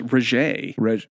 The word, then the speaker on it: Regé: Renee, it's Regé.